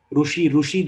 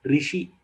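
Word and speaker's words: ऋषि: Ru is something which Karnataka people and people who have the influence of Kannada, Telugu language, they pronounce ru. Rushi they pronounce. Rushi is not the word. Rishi. So it is neither Rishi or neither Rushi. It is Rishi.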